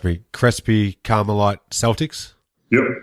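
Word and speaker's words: Crespi Carmelite: you led your now if I get the pronunciation wrong please correct me cresy carite Celtics yep crisby carite High School okay there you go you led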